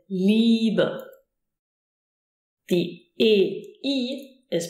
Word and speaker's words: Liebe: The IE is pronounced like a long E, as in Liebe.